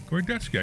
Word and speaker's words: Gordetsky: Is that right? Gordetsky. I said her name right. Absolutely right.